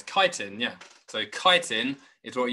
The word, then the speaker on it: chitin: I guess it's quite hard for me to ask you how to pronounce it. Yeah, it's chitin, yeah.